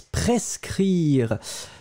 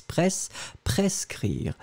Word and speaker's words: prescrire: first one and it's prescrire. So prescrire, prescrire. D'accord? So let's make the difference between the two. So the first one, a prescrire. So you pronounce the S, hein, pres, pres, prescrire.